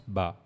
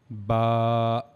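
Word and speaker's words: ب: that for pronouncing Ba, we have to use the inner sides of our both lips. Okay. We have to connect the inner side of our lips, and that's how we have to pronounce Ba.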